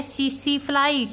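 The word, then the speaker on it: tsetse: तो बेटा sleeping sickness डिजीज को जो फैलाता है पैरासाइट, उसका नाम है सीसीफ्लाई। टी इज साइलेंट, और इस सीसीफ्लाई का जोलॉजिकल नेम है ग्लोसिना पैल्पैलिस।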